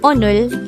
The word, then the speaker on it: 오늘: 79 this is pronounced as a two-syllable word the first syllable is o the second syllable is pronounce it with me the word onor is an adverb of